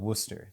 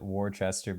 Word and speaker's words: Worcester: because a rorchester the actual town is called worcester that's how you pronounce it yeah in real life but i i always called it warchester before i got there so that's what i